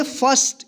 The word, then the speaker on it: first: यहां पे देखिए आई के बाद आर है और आर के बाद कोई कॉन्सोनेंट है और इसमें कोई दूसरा वोवेल नहीं है तो इसको आई का जो है ना अ उच्चारण करेंगे।